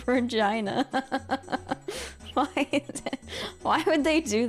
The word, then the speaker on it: Regina: Canada called called Regina and it's just pronounced Regina why why would they do that can like